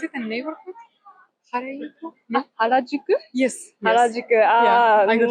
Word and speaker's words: Harajuku: This no, I'm not pronouncing it correctly. In Tokyo? Yeah, is it a neighborhood? Harajuku? No. Harajuku?